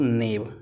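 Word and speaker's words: knave: दोस्तों पता होगा आप लोग को जब कभी भी किसी वर्ड में आपका के एन रहता है वहाँ पर दोस्तों एन हमारा रहता है। दोस्तों हमारा के रहता है साइलेंट।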